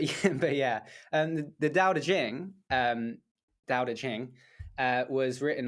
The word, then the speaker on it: Tao Te Ching: dao it's taoism and it's spelt the tao tae ching but obviously it's like the dao de jing i guess something like that so we're gonna be